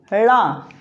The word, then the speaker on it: ड़: इसमें जीभ को तालु की ओर मोड़कर बोला जाता है। इनका उच्चारण जीभ को तालु की ओर ऊपर मोड़कर फिर बोला जाता है, जैसे ड़ा, ढ़।